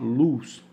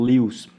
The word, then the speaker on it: Lewis: é Lewis ou luz lá na Inglaterra o mais comum é pronunciar luz e nos Estados Unidos e aqui no Brasil nós geralmente pronunciamos como Lewis pode ser luz ou